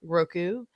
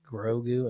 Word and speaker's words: Grogu: But yeah, I'm excited to see if we can get on it with Mando and Roku. And did I say that wrong? Yeah, Grogu and Mandalorian.